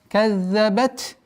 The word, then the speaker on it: كَذَّبَتْ: Удваиваем звук «за». Потом произносим огласовку фатха. كَذَّ. Каззабат. Здесь обратите внимание. Та с сукуном. Звук та фрикативный звук. И полноценное произношение должно быть. Каззабат са. Если немножко проморгать это свойство, у нас получается каззабат самуду. Получится ассимиляция. А что в нашем чтении, это такой ассимиляции в данном случае не применяется.